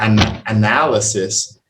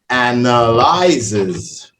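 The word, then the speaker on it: analyses: Analysis, the noun, the verb, and not analysis. Analyzes. Oh, okay. It's a really weird one. I actually had to check it a couple of times to make sure I was saying it right because I was getting a little bit tongue-tied trying to get it right because all you do is add the S and it changes the whole thing.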